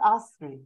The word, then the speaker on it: Astrid: So you don't pronounce the D at the end of Astrid. It's no. Astrid.